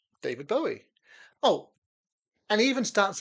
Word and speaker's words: Bowie: I always thought it was Bowie. I thought, well, it's a Scottish name, must be Bowie. But nobody in Scotland pronounces it like that. They pronounce it Bowie, I think.